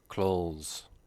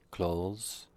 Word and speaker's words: clothes: are often mispronounced first clothes very similar to close the door not identical but very similar so try to remember clothes fuca sounds very similar